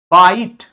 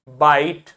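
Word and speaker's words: bite: बनाता है ठीक है जैसे बाइट टी का ई का कोई साउंड नहीं टी के पहले इसके पहले कौन सा कंसोनेंट है टी और टी के पहले वाउल है आय तो आय का साउंड लॉन्ग साउंड हो जाएगा बाइट कॉन्सोनेंट के पहले वाउल आय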